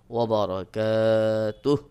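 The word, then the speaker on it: وبركاته: হু ওয়া বার রয়েছে এখানে আপনাকে ওয়াকফ করতে হবে বা থেমে যেতে হবে যখন আপনি থেমে যাবেন তখন উচ্চারণ হবে ওয়াবারাকাতুহ সাধারণত এখানে আমরা সকলেই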